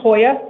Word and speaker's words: Hoya: It's pronounced Hoya. Hoya.